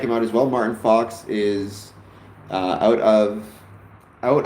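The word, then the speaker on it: Faulks: Um even though his name is spelled F A U L Ks, you you pronounce it Fox, like Fox and Hen House.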